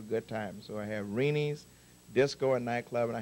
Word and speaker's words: Reni's: So if you ever get to Hawaii, it's spelled R-E-N-I-S.